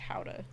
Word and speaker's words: Gouda: When I went to the Netherlands when my dad got married, that's where Gouda comes from. It's actually pronounced Gouda, Oh, but I don't care. It's Gouda cheese.